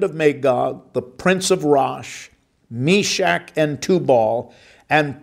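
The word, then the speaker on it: Rosh: highlight the prince of rash some would pronounce that and say that the proper pronunciation is RO uh I'm not going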